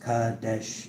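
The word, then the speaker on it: Qadesh: Cuadesh pronounced Kadesh is an ancient Egyptian goddess of sacred ecstasy.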